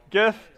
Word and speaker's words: GIF: GIF. It's graphics, right? So it'd be g. Soft G, right? It's not a peanut butter, okay?